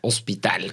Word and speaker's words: Ospital: debe de preguntar Entonces en este caso es se escribe y es hospital como el hospital general como el hospital general como el hospital del seguro social sí no pero qué